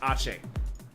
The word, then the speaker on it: Ake: Although it's spelled as Ake, it's pronounced Ache.